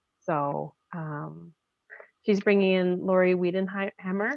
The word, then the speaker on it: Weidenhammer: So she's bringing in Lori Weidenhammer. Is that how you say it? Sorry. Weidenhammer.